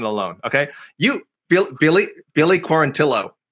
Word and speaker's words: Quarantillo: okay you billy billy quarantillo i'm sorry he pronounces his name wrong too billy corantillo ryan benoit ryan benoit hey